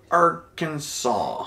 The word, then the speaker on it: Arkansas: just FY if you're pronouncing this it is Arkansas even though it's spelled like Arkansas yes it's weird right tricky